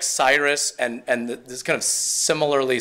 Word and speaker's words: Cyrus: So I like to build off of the kind of name equity, if not necessarily brand equity, that Miley Cyrus has built in pronouncing that name.